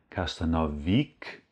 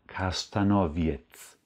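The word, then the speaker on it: kasztanowiec: auch so besprochen kastanowwirth das ist kein customerwick oder castanoviak sondern castanowitz kastanoviets weil dieser Baum viele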